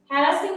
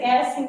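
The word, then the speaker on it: Gerasim: হ্যারাসিং Lebedev ইংলিশে বলতেছে জি, ইংলিশে এইচ উচ্চারণ হচ্ছে না, ঠিক আছে? গ্যারাসিং হচ্ছে, গ্যারাসিং Lebedev, Alexander Pushkin, Maxim Gorky,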